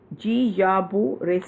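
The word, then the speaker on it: Guillain-Barré: joint pain it also triggers a syndrome called G Yabu ray syndrome it's pronounced as GE Abu Ray's syndrome so it with the Zika virus this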